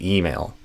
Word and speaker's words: email: the mail permission and the mail I would do email.